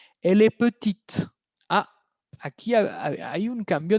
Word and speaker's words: petite: Elle est petite. Ah, aquí hay un cambio de pronunciación porque pasamos de masculino a femenino. Masculino, les repito, il est petit. femenino, elle est petite. La T se escucha.